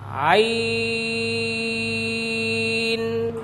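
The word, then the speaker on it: عين: যে হরফটি শুরুতে রয়েছে আমি এটির উচ্চারণ করছি, আপনারা সকলে আমার মুখের দিকে লক্ষ্য করুন। আইন।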